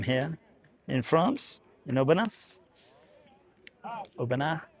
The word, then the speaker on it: Aubenas: Aubenas, if you don't pronounce the S.